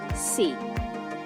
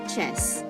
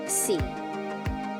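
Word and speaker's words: c'est: now this one say it's pronounced as see not chess but c and it means it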